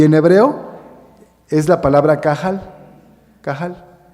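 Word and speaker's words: קהל: la palabra cahal cahal algunos judíos la pronuncian no pronuncian de plano cahal sino cal porque es difícil de pronunciar esa letra un poquito cuesta un poco de trabajo y entonces para no equivocarse y decir otra cosa ya nada más pronuncian cal y significa Exactamente lo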